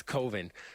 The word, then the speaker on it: coven: no matter what and it's coven because he doesn't want um his Covenant with us because Kevin rhymes with oven and he doesn't like that so it's coven um and and it's